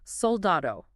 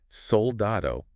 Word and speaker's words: soldado: how about the word soldado okay soldado meaning soldier Okay it's a lana word because the stress fall on the da okay but notice it